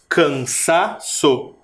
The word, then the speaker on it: cansaço: antepenúltima o c cansaço Qual que é a sílaba mais forte de cansaço cansaço quase não dá para perceber mas é o sa cansaço a minha boca